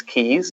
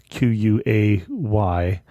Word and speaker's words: quay: to look that up that is the English key which is spelled qua y sorry not the American key which is spelled key y I didn't know that was special to all everyone yeah say I always wanted to call that Quay when I see it